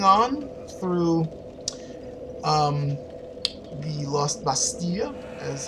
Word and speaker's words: Bastille: through um the lost bastille is how that's actually how you're supposed to pronounce it learn some french people well i guess